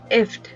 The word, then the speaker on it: IFTTT: if this then that you can pronounce if fttt as gift without G init if if is both a